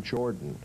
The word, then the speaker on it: Jordan: In North Georgia, they pronounce my name Jordan. But when you get down to the Nat line, it's Jordan. It's Jordan.